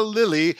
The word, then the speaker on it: Lelli: I hope I can pronounce it properly. Dr. Alessandro Lilly.